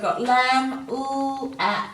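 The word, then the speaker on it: lamb: you sound it and because we're not sounding this silent B then it's very important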